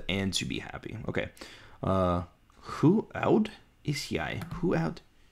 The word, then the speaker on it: hoe: Okay, that's who is... Hoe gaan dinge? Okay, how is who? I need to write that down. So, H-O-E is pronounced who, but is how.